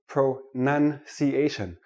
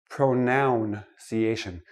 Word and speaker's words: pronunciation: let me start with this word pro none see asian not pronoun see asian it is not a